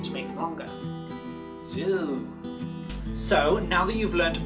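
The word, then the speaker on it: sŵ: Okay, so let's look at the word zoo. In Welsh, it's pronounced exactly the same, but we spell it S-W, and the W has a little circumflex on it.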